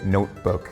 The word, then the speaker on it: notebook: So like in like if we're going with notebook from earlier like in English you would say notebook like you would kind of like swallow that t a little bit like you wouldn't necessarily